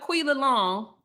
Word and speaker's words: Quilla: And then I looked up Quilla Long. That's how you say her name, Tequila.